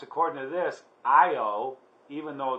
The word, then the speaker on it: Io: called good luck it's pronounced according to this io even though it's spelled L oh I call it low but it says IO has many active volcanoes